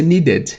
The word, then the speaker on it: needed: Quando o verbo terminar com D ou com T, no presente, né? O ED vai ter som de ED mesmo, ou ID.